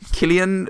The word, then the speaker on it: Cillian: Killian Murphy I took excuse me it's actually Killian bad Whelan twiddle t'en is piddly fondle spoon Murph swam pronounce nice yes as is Gaelic isn't it